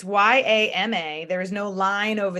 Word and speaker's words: Yama: So say Yama. It is not Yama. Because if it was Yama, if you look at the word, if you have the book, it's Yama.